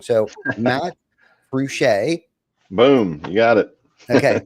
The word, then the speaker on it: Fruge': few other people say it wrong so Matt cret boom you got it okay nailed it welcome